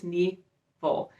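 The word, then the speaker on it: Nghi Vo: I actually looked how to pronounce that. I think it's Nevo, and her Singing Hills cycle.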